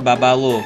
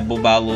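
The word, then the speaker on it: Bubbaloo: Ou o chiclete Babalu, que na verdade a pronúncia é Bubalu.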